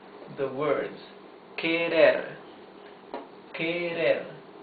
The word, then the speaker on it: querer: Try to pronounce the words querer, querer. You see that the R is the soft sound of the R, because it's not at the beginning of the word, and because it is not doubled, it is not double R.